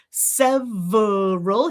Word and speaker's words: several: 2 or 3 syllables, right? Several. Here, look, we've got that schwa, schwa, again, schwa, schwa, We've already seen this one. Several, several, several, several, several, several, several. Perfectly fine. But you could also do, what else?